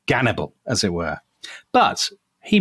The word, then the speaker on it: Gannibal: they call him Hannibal now the Russians pronounce that Hannibal hence that's why he's called cannibal as it were but